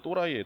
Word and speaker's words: 또라이: 도라이인데 좀 세게 센 발음으로 또라이예요.